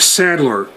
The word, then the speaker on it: Sadler: identified himself simply by the single name of settler and that's spelled s-a-d-l-e-r and he identified himself as the